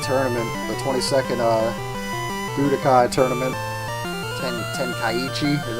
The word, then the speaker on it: Tenkaichi: Tenkaichi is how you pronounce it.